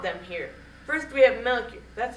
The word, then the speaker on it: Melchior: First we have Melchior.